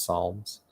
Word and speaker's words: Psalms: workers like um songs is that how you say it because it's spelled like pizolms but it's psalms so there's a lot